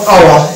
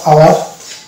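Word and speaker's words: hour: যেমন এটা হচ্ছে ও ইউ আর, এইটুকুর উচ্চারণ করবো আওয়ার, এখানে এইচ কিন্তু সাইলেন্ট, এখানে হাওয়ার বলে না, হাওয়ার হলে মোটা ভুল হয়ে যাবে। তো এই জায়গাটাতে আমরা এইচ কে বাদ দিয়ে উচ্চারণ করবো আওয়ার।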